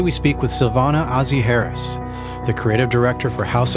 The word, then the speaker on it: Heras: your last name right is it with a hard s like Harris or is it Harris that's perfect okay I wasn't sure if it was harz like more more of